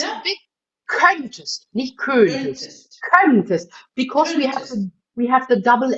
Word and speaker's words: könntest: Yeah, der König, because there's only one N afterwards in German diction, in pronunciation, but könntest, It's an open Könntest.